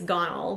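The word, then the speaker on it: Gonal-f: So I think I'm saying it wrong, by the way. I think it's gonal. That's what my nurse pronounces it as.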